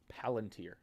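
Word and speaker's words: Palantir: Is it Palunteer? PLTR. How do you pronounce that? Palunteer. Okay, I got it right.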